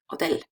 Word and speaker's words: hotel: It doesn't end with vowel, it doesn't end like Carmen or Carlos in n o s. So, the stress is on the last syllable. hotel Now, if rules one